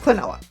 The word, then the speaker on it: Klonoa: Clenoa is I know Clenoa is pronounced Clenoa. I know that for a fact.